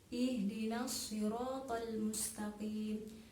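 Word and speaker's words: اهدنا الصراط المستقيم: ihdinashirotolmustakim menjadi di sana perhatikan makhroj huruf ha ha itu keluarnya dari tenggorokan bukan dari dada jadi dalam membacanya itu tidak seperti itu di Ih bukan seperti itu Jadi yang betul itu adalah ihdinashirotolmustakim Adapun huruf ha itu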